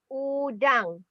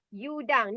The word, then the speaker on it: udang: we call it is udang. Okay, not udang because before this, some of people say udang, not you. The pronounce you is u. Okay. The sound U is U. Udang.